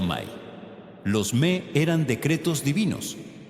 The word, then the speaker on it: me: Las tablillas mencionan específicamente los me pronunciado May.